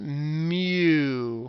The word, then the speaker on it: mu: for the mean it's mu okay it's actually pronounced mu okay like mu kind like a cows mooing